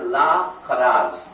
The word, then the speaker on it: লাখেরাজ: Free কে আরবিতে বলে লা খরাজ। জমির খাজনাকে খরাজ বলে, আমরা বাংলাতে উচ্চারণ করতে পারি আমরা খারাজ বলি আর কি, কিন্তু মাফ করে দিয়ে আপনারা লাখেরাজ বলি আমরা।